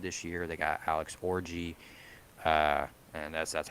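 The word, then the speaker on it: Orji: be that good this year they got Alex orgy uh and that's that's how you say his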